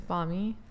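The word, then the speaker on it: bánh mì: How do you pronounce the sandwich? It's banh mi.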